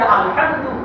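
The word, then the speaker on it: الحمد: এই সূরা, এই যে আলহামদু, এই আলহামদুতে যে হাই ভক্তি রয়েছে, একটা হা আছে আলহামদু, এই কণ্ঠনালীর মধ্যখান থেকে উচ্চারণ হয় আইনে বলতে হা।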